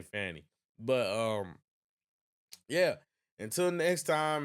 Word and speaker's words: Fani: It's spelled Fanny, so I'm going to say Fanny.